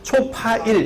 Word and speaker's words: 초파일: 초8일인데 이게 발음을 빨리 하면 초파일 이렇게 되잖아요.